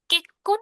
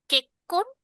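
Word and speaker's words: 結婚: কেক্কন শিতেইমাস আছে এখানে, জিসেসু, তাই এটার উচ্চারণ হবে না, ঠিক আছে? ছোট সু, এটা উচ্চারণ হবে না। এই কেক্কন, এটাকে একটা ধাক্কা দিয়ে উচ্চারণ করতে হবে, কেক্কন শিতেইমাস।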